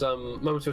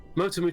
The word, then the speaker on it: Motomu: It's the director on the game is Momoto Toriyama. Momoto Toriyama. I always get his name wrong. Was Motomu Toriyama, that's his name.